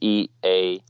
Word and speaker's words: Iago: So pronunciation of your name, it's Iago, right? Yeah. Is that right? Okay. In Spanish, an I is more pronounced like an E in English. Okay. So for English speakers, just imagine my name is Eago, and then it should be easier.